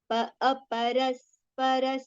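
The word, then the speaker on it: अपरस्परसम्भूतं: Aparaspara Aparaspara, both the ras are with the complete pronunciation, and then sambhutang, tang, that ga sound, little nasal sound.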